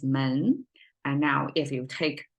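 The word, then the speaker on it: 门: uh facing each other it has two panel door pronounced as men and now if you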